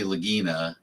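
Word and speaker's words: Lagina: necessarily Rick and Marty Lagginina. Um, their names are really Ricky Rick and Marty. Rick and Marty. Lagginina, spelled like vagina with an L at the beginning.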